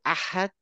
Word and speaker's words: أحد: আমরা বলি না কুল হু আল্লাহু আহাদ, এই হচ্ছে এইটা, কুল হু আল্লাহু আহাদ।